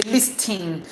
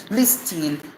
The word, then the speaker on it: listening: Now one consonant is silent here and one vowel is weak.